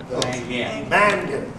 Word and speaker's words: Mangan: Mangan.